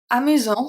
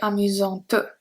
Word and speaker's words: amusante: Amusant, so it's the masculine singular. Then we have amusant, t, t. Here the T is pronounced, but not the E. We don't say amusante. Amusante, we don't say that.